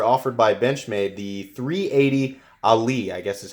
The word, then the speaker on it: Aller: It's spelled A-L-L-E-R, so it looks like Aller, but I guess it's pronounced Ali. I don't know.